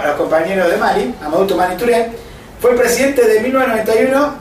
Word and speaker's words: Amadou Toumani Touré: Pero bueno, entonces, Amadou Toumani Touré, vamos a pronunciarlo bien, en respeto a los compañeros, Amadou Toumani Touré, bueno, ¿cómo se llama? A los compañeros de Mali, Amadou Toumani Touré, fue el presidente de 1991 al 92.